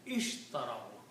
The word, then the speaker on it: ishtarao: If you are not combining, then it should be pronounced ishtarao, because originally there is a kasra.